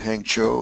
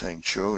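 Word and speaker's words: Hangzhou: It's a brief report, but um Bobby, we held the meeting at Hang Cho. That's how it's pronounced. Hang Cho, not CHO.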